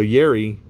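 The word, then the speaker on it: Jari: also yuri curry this is his um so yerry his name is spelled j-a-r-r-i and they only spell it with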